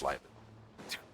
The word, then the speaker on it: Liben: Sorry, pronounced Liben.